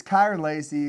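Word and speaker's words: Kyren Lacy: Ky, it's Kiran Lacy.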